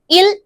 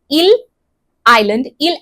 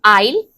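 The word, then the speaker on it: Île: to go to the Ile Amsterdam, a French scientific base. So this is pronounced as Ile, not Isle.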